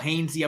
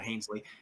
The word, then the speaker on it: Hainsey: Hainsey, I believe is his name's pronounced, not Hainsley.